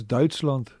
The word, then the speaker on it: Duitsland: Almost like they say Deutschland. It's Duitsland.